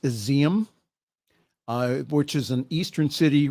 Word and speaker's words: Izium: Ukraine authorities have found 444 graves at a mass burial site in, it's pronounced Izium, which is an eastern city reportedly recaptured from Russian forces.